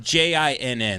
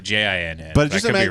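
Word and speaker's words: djinn: Wasn't that J I N. That's G that you actually pronounced that G, right? A jin. Yeah, DG DJ I N.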